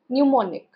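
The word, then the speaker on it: mnemonic: एम जो है यहां पे साइलेंट होता है। इसे हम बोलते हैं न्यूमोनिक। न्यूमोनिक।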